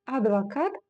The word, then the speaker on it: адвокат: Да-да-да, если бы мы с вами соблюдали правила казахского языка, то мы бы с вами читали адвокат через букву О. Но так как это слово заимствовано из русского языка в казахский, мы читаем его именно как оно звучит в русском языке.